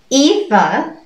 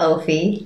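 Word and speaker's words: Aoife: it's a girl's name etha not ophie ethan means beautiful radiant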